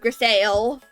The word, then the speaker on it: Grisaille: Or if I am to butcher the French word, Grisaille.